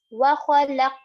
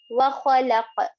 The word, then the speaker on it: وَخَلَقَ: letters of huruf qalqala, which means that there will be a bounce in the word qaf while reading this. وَخَلَقَ وَخَلَقَ وَخَلَقَ, like this. Make sure also to pronounce the qaf properly. It is one of the heavy letters, so make sure to pronounce it properly.